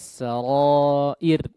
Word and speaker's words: السرائر: Sama yauma tubelas sarair.